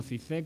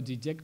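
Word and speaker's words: Žižek: Este se pronuncia como Zizek o Zizek, como queráis, es un intelectual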